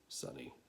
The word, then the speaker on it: Sine: angle who are you Sunny weird name for an automaton short for Cima most folks don't pronounce c right pronounce it sunny just kind of went with